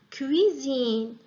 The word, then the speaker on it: cuisine: إمتى كنطقوها Z إلا كانت S entre deux voyelles S entre deux voyelles ماشي deux consonnes ماشي une voyelle et une consonne وإنما deux voyelles I et I par exemple cuisine cuisine شوفوا S Z cuisine.